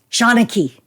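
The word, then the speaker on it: seanchaí: Because honestly, there are letters that are not pronounced in the Gaelic alphabet. It's like they don't exactly want the English to know how to say it. But we do. So Shawnachie.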